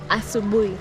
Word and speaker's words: asubuhi: Habari Habari ya ya asubuhi. asabui. Habari ya asabui. Yes, Is good asubuhi.